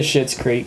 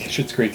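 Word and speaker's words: Schitt's Creek: and other people oh you can say shit's creek shit's creek if you like shit's creek then this is the show for you it's spelled s-c-h-i-t-t it's their last name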